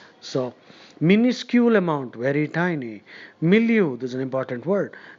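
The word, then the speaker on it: milieu: trusting anyone's motives so minuscule amount very tiny milu this is an important word m i l i e u milu in this particular milu that means in this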